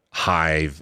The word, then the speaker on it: HYV: So, And remind everybody it's spelled H Y V. That's Hive, H Y V social on all of the platforms where you can buy your apps or get your apps.